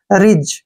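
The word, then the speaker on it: ridge: ई जी से फिर पहले डी आ गया इसको काट देंगे आर आई का उच्चारण री हो गया जी से ज हो गया और ई का उच्चारण हम नहीं करते हैं रिज क्या पढ़ेंगे इसको रिज रिज मींस क्या होता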